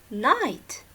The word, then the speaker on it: knight: Night. It is pronounced the same, just like night when you say it's not a day, it's night.